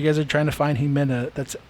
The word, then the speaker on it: Ximena: so if you guys are trying to find he Min a that's x i m a m e oh